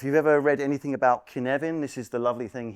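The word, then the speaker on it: Cynefin: ever read anything about Kevan this is the lovely thing here I bet you were not going to pronounce it as Canan were you it's a brilliant Welsh word took me years to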